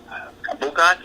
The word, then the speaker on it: bukkake: How do I say it? Bukkake. How do you say it? Bukkake. That's it.